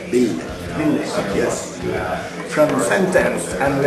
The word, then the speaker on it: Ville: You have to kind of really put the L's. Ville.